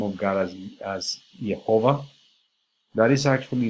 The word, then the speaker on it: Yahweh: And scholars actually think that the way to pronounce this is Yahweh, although in reality nobody knows for sure how this word should be pronounced.